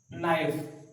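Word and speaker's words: knife: अगर मान लीजिए अगर इस टाइप से है ये नाइफ, नाइफ यहाँ पे के साइलेंट रहता है, नाइफ, नाइफ मत पढ़ना इसको, नाइफ है ये, के साइलेंट रहता है।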